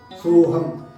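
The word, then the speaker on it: சோகம்: Now we write a word soham. Soham is sorrow. How do we write it? So, although we pronounce it as soham, it is written as sokam.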